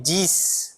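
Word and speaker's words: dix: E aqui a gente tem dis, né? Diz, que é o número 10, tá? Diz. Eu vou pronunciar o X no final.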